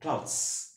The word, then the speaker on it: clothes: ক্লোথস, ক্লোথস, Z sound American ইংলিশে। British ইংলিশে প্রনাউন্সিয়েশনটা কি হবে? এস সাউন্ড হবে, ক্লাউডস, ক্লাউডস। ওকে, আমরা উচ্চারণ করব না, কি উচ্চারণ করব না? ক্লথস, ক্লথস উচ্চারণটা এভাবে করি, উচ্চারণটা করা যাবে না, ক্লথস উচ্চারণটা সঠিক নয়। এই উচ্চারণটা করার জন্য, এই ক্লথস উচ্চারণটা করার জন্য একটা সিলেবল দরকার, ওয়ান সিলেবল।